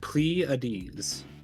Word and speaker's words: Pleiades: Okay, how do you pronounce that? Pleiades. Pleiades? Pleiades.